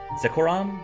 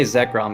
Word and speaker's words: Zekrom: Zekoram is how I pronounce it? I just say Zekrom, but I don't know for sure.